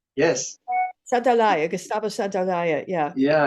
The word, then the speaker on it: Santaolalla: Santolaya, Yes. Santolaya, Gustavo Santolaya.